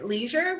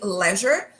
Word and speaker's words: leisure: So yes, you nicely said leisure, which is American English. In British English, they would usually say leisure, but both pronunciations are perfectly fine, so use either one.